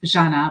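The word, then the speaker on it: Žana: It's pronounced Janna, but it's written ZA. And on top of the Z, you need to put a little check mark.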